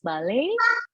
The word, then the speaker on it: ballet: She is a famous ballet dancer.